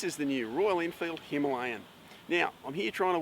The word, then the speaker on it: Himalayan: When the Royal Enfield Himalayan was announced, or Himalayan as the Indians tend to pronounce it, was announced and